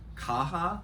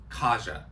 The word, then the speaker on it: Kaja: I think her name, I said Kaha. Her name is Kaja.